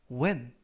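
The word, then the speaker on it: when: 세다 라는 표현이 되겠습니다 이번 표현은 웬 웬 웬 이라고 발음 하시면 되겠구요 이 때 유의하실 점은 알파벳 h 가 이번 단어 에서는 묵음 이라서 발음이 되지 않습니다 그래서 팬이 아니라 웬 이라고 발음 하시면 되겠구요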